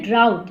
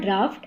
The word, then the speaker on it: drought: Meanwhile, there was a severe drought. It is not drought, it is drought.